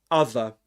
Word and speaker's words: other: So, you've got and um yeah, you're and in in this accent you say other in this case other hand. Other hand. You don't pronounce this one there, right? Because right after it comes a consonant sound.